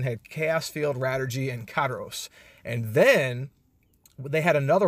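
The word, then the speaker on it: Karous: Okay, you got Chaos Field, you got Rattergy or Radio Allergy, you got Karos, I guess that's how you pronounce that, Karos, K-A-R-O-U-S, Illmatic Envelope, and Rattergy Noah.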